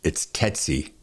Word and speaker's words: Tsetsi: I had to actually write it down phonetically. It's Tsetsi, Tsetsi, right?